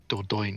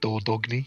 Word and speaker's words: Dordogne: It's It's not, actually it is actually like Dordogne if you said it like purely. Oh, because it's French.